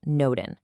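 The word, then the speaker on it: n8n: Now, for our next tool, which is definitely the most technical one, N8, and it's pronounced Noden.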